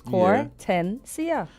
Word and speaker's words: Kortensia: But I keep saying it's 3 syllables. Kortensia.